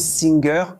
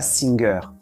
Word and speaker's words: Singer: Et oui, ça se prononce Singer comme le chanteur en anglais et non pas Singer.